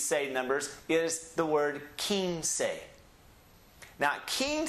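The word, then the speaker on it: quince: your bed and look the letter Q has two sounds it's either a key or a K and this one is the pronunciation key so we start off with the key put an in on it and so we have King say so it's two syllables king say leave that with me Kings say one more time King say King say King say yeah let's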